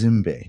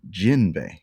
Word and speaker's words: Zimbe: I'm saying that right it is it's it's zimbe but for some reason they pronounce it jinbe with a a j okay almost like yeah so